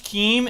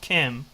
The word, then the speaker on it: Keem: keemstar he thinks can't he thinks keem is pronounced kim so that's how out